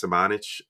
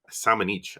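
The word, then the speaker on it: Šamanić: then lastly i threw lucas samanic or simon each i think is how you actually pronounce it i keep miss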